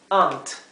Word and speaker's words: aunt: Esto es ant y esto es aunt, ¿sí? Es como más cerrada la palabra para tía.